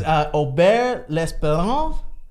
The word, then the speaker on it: Auburt L'Esperance: We have our very first Golden Door winner guest, and correct me on the pronunciation of your name. Absolutely. It's Aubert L'Espérance. Aubert L'Espérance.